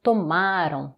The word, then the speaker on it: tomaram: E o pluriel, ça devient tomaram, tomaram, attention, avant-dernière syllabe forte, vocês tomaram, vocês tomaram.